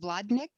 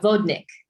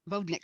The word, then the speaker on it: vodnik: how did you choose an is the word pronounced vladnik it's a vodnik vodnik thank you and how did you choose him